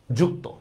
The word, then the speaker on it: যুক্ত: কি করব বলেন তো এই অর উচ্চারণটা ওর মত করে ফেলব ওর মত করলে কি হবে বলেন তো শব্দটা হবে হচ্ছে জস্কার যু ক হসন্ত ত ওকার যুক্ত ঠিক আছে সেম দেখেন